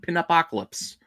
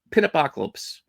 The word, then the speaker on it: Pin-Apocalypse: And then we have the second issue of Pin-Apocalypse. I said it right the first time. Pin-Apocalypse.